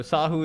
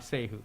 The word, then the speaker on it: Sahu: Sahu is typically how I do it, but since I'm okay with either. So Sahu is how I normally call myself. It's not Sehu, Sahu.